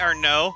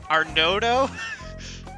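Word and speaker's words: Arnaud: so now we meet our no uh a a-r-n-a-u-d it's pronounced our no the d is silent um he basically got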